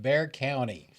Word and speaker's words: Bexar: English speakers so in English we call it Bear County like uh let's see there there's uh uh